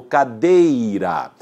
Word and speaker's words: cadeira: Paroxítona é aquela que tem a mais força, a maior força na penúltima sílaba, como cadeira.